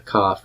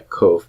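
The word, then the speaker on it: כף: the K represents a cough remember not a coke but a cough the P represents the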